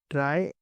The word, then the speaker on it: trie: First of ऑल कुछ लोग उसे बहुत गलत प्रोनाउंस करते हैं। सब लोग उसे ट्री प्रोनाउंस करते हैं। बट ट्री इससे पहले जो हमने टॉपिक्स में पढ़ा था बाइनरी ट्री या बाइनरी सर्च ट्री वो सब हमारे ट्रीज़ ये हमारा ट्राई है।